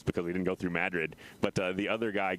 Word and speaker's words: Madrid: past golden you ride into the town of madrid on your way to santa fe and it's not madrid if you're from out of state it's pronounced madrid here in new mexico and of course more